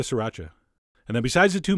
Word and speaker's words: sriracha: the same amount of si racha which is how I've been told to pronounce it three distinct syllables SI racha although you know what that sounds kind of weird I'm going back to sriracha and then besides the